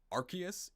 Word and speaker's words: Arceus: rc's these nuts i mean that's really the pronunciation that transcends borders but in english it's officially arceus in japanese it's arceus i'm just gonna say